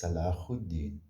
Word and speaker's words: Salahuddin: It's spelled Saladin. I don't think they said Saladin, but his name was Salahuddin.